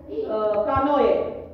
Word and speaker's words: canoë: On trouve le tréma sur les voyelles E et I pour indiquer que la voyelle qui les précède doit être prononcée séparément. Canoë.